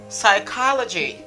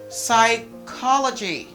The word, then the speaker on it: psychology: schedule all right three the p the letter p is completely silent don't say no just eliminate cancel the letter p don't pronounce it at all say psychology psychology sounds like it i